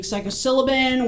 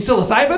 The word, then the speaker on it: psilocybin: uh like ginkgova ginkgobo we're talking psychosyllabin we're talking you mean psilocybin psilocybin that's exactly or psycho